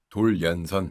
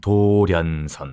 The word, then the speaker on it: 도련선: 돌연선. 도련선. 도련선. 섬들을 다 이어놓은 선이에요. 아, 도연선. 도련. 그렇죠. 발음하게 되면 도련인데 네, 네, 네.